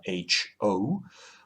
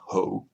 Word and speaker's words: HO: has is in scale h o or h0 but that's more difficult to pronounce so let's let's go with h o but it's not hoe which is one in 87.